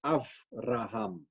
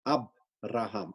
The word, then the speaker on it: Avraham: So it actually should be pronounced as Avraham and not Abraham, Abraham. It's not a hard B, but a soft V.